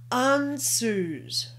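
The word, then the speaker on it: Ansuz: read all right this is mouth and it's pronounced anzus the ruin of odin also means mouth the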